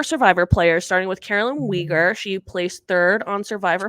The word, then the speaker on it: Uyghur: So speaking of that, we have 4 Survivor players, starting with Carolyn Uyghur. She placed 3rd on Survivor 44. Is it Uyghur or Weiger? From what I've heard, it's Uyghur.